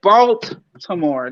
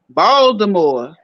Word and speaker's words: Baltimore: They don't say Baltimore. They don't pronounce. Ain't no T. It's like a D up in that joint. Baltimore.